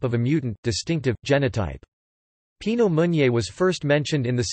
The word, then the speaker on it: Pinot Meunier: Pinot Meunier, pronounced pi.no-mo.nier, also known as Meunier